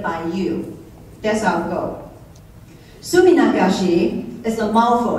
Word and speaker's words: Suminagashi: Suminagashi is a mouthful. It's very hard to say. And that's the first time I can say faster than anybody else and without feeling like I mispronounce anything. It's Suminagashi.